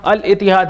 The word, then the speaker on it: Al-Ittihad: ALITIHAD pronunciation देख लेना, अल इतिहाद यहां पर करीम बेंजिमा का नया क्लब होने वाला है।